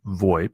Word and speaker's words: VoIP: VoIP so the IP VoIP is commonly pronounced void it stands for voice